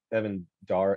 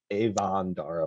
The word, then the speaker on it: Evan Dara: the guy said that evan dar he said avondara for one thing which was weird wrong that's why that's a